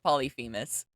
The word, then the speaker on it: Polyphemus: ne Saga uh wellers polyphemus but is it polyphemus or polyphemus or po polyphemus that's how you pronounce that's how you pronounce it polyphemus but um yeah as you can see uh